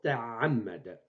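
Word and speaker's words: تَعَمَّدَ: Ta'ammada, ta'am. J'ai prononcé ammada. Ammada, c'est ici. Am, ça c'est am, ensuite ma, ensuite da. Donc, on écrit une seule fois ma, on lui ajoute shed, et c'est l'orthographe correcte, et on prononce ta'ammada.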